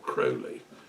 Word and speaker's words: Crowley: who developed it was a chap called Aleister Crowley or Crowley to give him his proper pronunciation he was an English magus occultist active